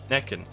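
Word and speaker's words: Näcken: It's Nokun? Naiken? How do you pronounce this? Naken? Necken. That's how you pronounce it, okay.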